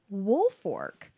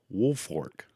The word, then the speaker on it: Woolfolk: go okay Thomas G woolfork now it looks like it's spelled wolf Folk but I've read it's woolfork wolf Fork yeah okay he was